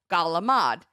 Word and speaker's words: calamari: marie my whole life in new jersey fried squid is called gala mod but it's spelt calamari m-a-r-i which i don't know